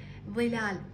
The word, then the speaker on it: ظلال: لاحظوا هنا عندنا كسره ظلال ظلال اذا تجربونها هسه وتنطقها تلاحظون انه اللسان يخرج من الفم ظلال هنا عندنا ظلال هو